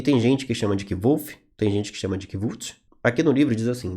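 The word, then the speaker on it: Kvothe: gente que chama de kiv aqui no livro diz assim meu nome é kolf com pronúncia semelhante a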